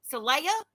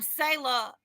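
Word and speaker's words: Saylah: name come up there he was like celaya celaya how do you say that that's why he's kept trying to tell him and I was like yes I'm sailor and I said s-a-y-l-a-h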